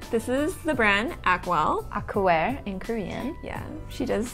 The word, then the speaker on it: Acwell: Acwell in Korean. Yeah, she does the Korean pronunciation very well.